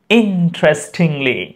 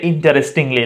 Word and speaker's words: interestingly: এরপর চমৎকার হবে interestingly, Do not say interestingly. No, interestingly. Interestingly. এখানে এইটা সাইলেন্ট থাকবে।